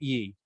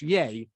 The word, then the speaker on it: Ye: told by our producer it's pronounced yay not ye uh hey kenny is